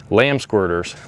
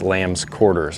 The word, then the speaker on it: lamb's quarters: Burdock Wild Onion chickweed lamb squirters Lambs lamb squirters it's Lamb's quarters I pronounce that wrong sorry can you imagine